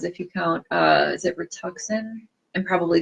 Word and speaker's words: Rituxan: So like I was saying, despite being asked this question a lot, I'm just looking to see, starting Rituxan. So I am pronouncing it right.